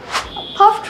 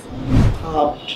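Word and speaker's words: puffed: Steamed rice, মুড়ি, পাফড rice. পাফড rice না পাফড, ওকে, পাফড rice. ওই ডিটা কিন্তু টি উচ্চারিত হবে লাস্টে, পাফড রাইস, রাইট।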